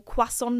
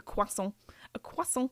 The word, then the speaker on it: croissant: because I know that my American friends, you guys say croissant, but in French, like the French, they say it croissant.